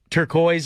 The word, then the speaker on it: turquoise: that word turqu tur turquoise is how you say it but I like turqua better it's beautiful word